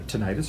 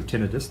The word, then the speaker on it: tinnitus: Kate saying, Kate helped my husband with an overwhelming either tinnitus or tinnitus, depending on where you're from and how you pronounce that.